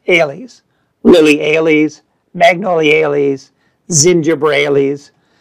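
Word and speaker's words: -ales: of time on them they end in the standardized ending a-l-e-s which we're going to pronounce alies lily ailees magnolias zinger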